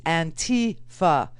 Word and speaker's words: Antifa: It is Antifa, as in anti-fascist. That is what it stands for, anti-fascist. Now, what is and who is and how in the world did we let Antifa infiltrate all of these